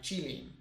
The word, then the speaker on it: Qilin: The Chinese pronunciation is more like Qilin.